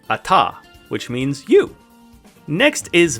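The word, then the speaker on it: אַתָּה: But if you ever see hey at the end of the word, it's silent, like the word ata, which means you.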